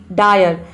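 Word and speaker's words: dire: यदि किसी वर्ड में आई के बाद आर ई हो तो वहाँ पे आई को हम आई प्रोनाउंस करते हैं। जैसे कि देखिए यहाँ पे एग्जांपल है डायर, डायर मीन्स होता है भयानक। अब डायर में आई के बाद आर ई आ रहा है, इसलिए हम यहाँ पे आई को आई प्रोनाउंस कर रहे हैं, तभी इसका प्रोनाउंसिएशन हो रहा है डायर।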